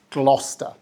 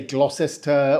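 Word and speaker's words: Gloucester: is this one gluster pronounced correctly it's gluster we don't say glosses ter or gler Shire we just drop half the syllables and say gler English place names lots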